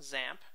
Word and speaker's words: XAMPP: we get to to the class um so zamp is pronounced zamp you might think it starts with The Zed